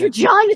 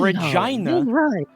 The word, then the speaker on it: Regina: Regina the French poodle. Regina the French poodle. I know I know you Canadians pronounce it that way, but it's Regina.